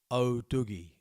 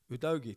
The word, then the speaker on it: Udogie: Jason Emmett, please stop pronouncing Udogie O'Dogie. What is it then? How do you pronounce it? Udogie.